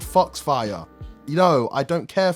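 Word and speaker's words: Fox-Fire: enemies and yes guys i realize i'm saying it wrong it's because i miss mozilla firefox i know the ability is actually called fox fire you know i don't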